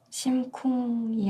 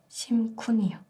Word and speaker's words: 심쿤: 심쿵이 아니라 심쿤이요.